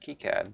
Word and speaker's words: KiCad: which I learned by the way it is pronounced kicad by the by they're the engineers that work